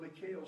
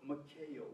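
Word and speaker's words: Michal: The Michael, not Michael, but Michael spirit. M-I-C-H-A-L it's spelled. This is not the word Michael, but Michael.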